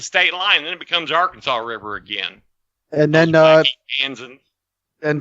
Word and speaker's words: Arkansas: That the only state that closes their presidential polls at 30 minutes past the hour isn't pronounced Arkansas. It's Arkansas.